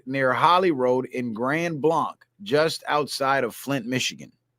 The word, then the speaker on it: Blanc: Trey Fidesz says Blanc is pronounced like blank.